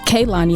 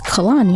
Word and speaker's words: Kalani: I thought it was Kaylani at first, but it was like, it's Kalani.